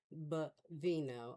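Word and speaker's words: Bovino: Bavino.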